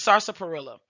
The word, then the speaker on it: sarsaparilla: one is sarsaparilla um some people say sarsapilla i've heard it but i might be saying it wrong but i said uh sarsa perilla okay i said it wrong but it's sarsaparilla this is you hear